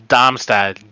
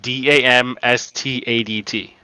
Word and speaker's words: Darmstadt: Darmstadt, Damstadt. No, it's arm dumb step. I mean, The strongest men around. Yeah, even in German it's Darmstadt, so like it's like saying Darmstadt.